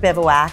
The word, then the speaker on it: Bivouac: So the word bivouac, I would say the first question everybody asks is, how do you pronounce it?